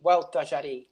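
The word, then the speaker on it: Gualtallary: I would say, repeat after me, Hualtajarí, because some of these names are extremely difficult to pronounce because they're not even Spanish.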